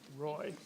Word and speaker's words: Roy: When I was first looking at it, I was thinking, is that Roy or Roy? But Roy. Yes, English pronunciation from Connecticut.